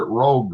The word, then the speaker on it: Rouge: It's called the Rouge River. You ever hear that uper? Yeah, we pronounced it rogue though but yeah now Rogue River some great fish coming out of there.